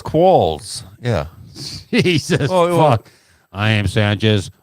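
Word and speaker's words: quolls: right here a Wikipedia call yeah but the pronunciation is oh it's Qualls yeah Jesus I am Sanchez I only read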